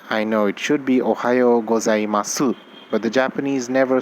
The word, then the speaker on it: ohayo gozaimasu: may have noticed that there's a su in the end but when i'm saying the word i'm not really stressing on the su i'm not even saying su i'm just leaving it like an s ohio hos i must